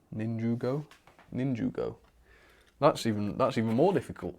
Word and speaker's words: Ninjago: The A in Ninjago sounds like a U. Okay, Ninjugo. Ninjugo?